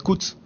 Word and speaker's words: Kutz: Entonces, si ya tenemos la sílaba tsu, el valor de la sílaba tsu, la última vocal por cierto, la última vocal de las sílabas no se pronuncia.